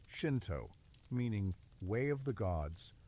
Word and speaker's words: Shinto: Shinto, pronounced Shinto, meaning way of the gods or way of the spirits, represents Japan's indigenous spiritual tradition.